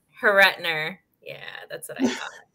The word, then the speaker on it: Horruitiner: and i am here with miss dalen daylen pronounced your last name for me haritner haretner yeah that's what i thought all right so